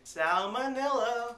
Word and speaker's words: salmonella: are you how's everything salmonella it rhymes with vanilla ding ding so i